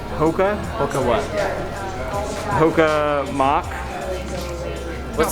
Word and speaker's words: Hoka: Hoka. Hoka.